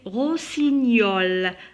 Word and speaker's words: rossignol: Des rossignols. Rossignol. Alors ici, le G et le N, je le prononce comme Y. Rossignol.